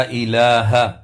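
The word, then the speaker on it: إله: محمد رسول اللہ۔ لا الہ، ہا کو واضح کرنا ہے۔ کچھ لوگ لا الہ پڑھتے ہیں جو کہ غلط ہے۔ الا اللہ، الا پر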